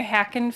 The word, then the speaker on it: Hackin: my name is hackin and my last name is pronounced like hack like computer hack uh I represent hover